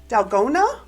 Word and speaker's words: dalgona: make sure i say it right it's the dalgona d-a-l-g-o-n-a wig i have it in a sumptuous